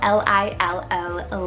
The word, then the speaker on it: Lilo: Then for another Hawaiian favorite is Lilo, spelled L-I-L-O, Lilo.